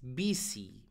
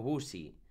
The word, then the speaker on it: busy: lo menos la pronunciación la pronunciación de esta palabra es vice vale no busy es vice y quiere decir ocupado